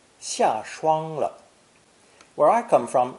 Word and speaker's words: 霜: This new character is pronounced first tone, shuang, meaning frost.